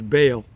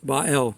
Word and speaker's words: Baal: of Babel by L you may know it pronounced as Baal but bael is the correct pronunciation the Hebrew pronunciation anyway